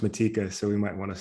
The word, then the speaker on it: Matejka: in the world adrian matejka um well so so i don't want to interrupt you but it's pronounced matika so we might want